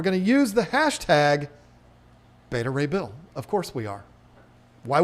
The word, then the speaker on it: Beta Ray Bill: And yes, that one is pronounced Betta Ray Bill, folks. Look it up in the comics. It's not Betta Ray Bill.